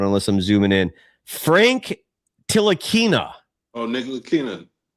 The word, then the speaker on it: Ntilikina: Ntilikina. Props on pronouncing that because the pronunciation doesn't match the lettering.